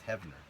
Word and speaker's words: Heavner: problem man okay uh hner or heavner sorry he asked another question do you like uh 6 inch or 3.75 inch figures better my last name is pronounced as heavner uh well it